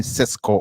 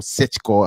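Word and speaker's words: Šeško: without European football uh Benjamin Cesco or Cicho has depending on how you you want to pronounce it it seems or looks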